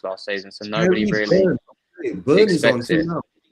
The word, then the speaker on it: Byrne: The Y you can pronounce it. Burn.